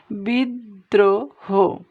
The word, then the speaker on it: বিদ্রোহ: একইভাবে এই যে এখানে মধ্যে আছে, এটা ছিল অন্তে, এটা মধ্যে, বিদ্রোহ, তাহলে এখানে শব্দের মধ্যে আছে রফলা, তাহলে রফলা যুক্ত এই বর্ণটার উচ্চারণ ডাবল হবে। কেমন? দেখো, বিদ্রোহ।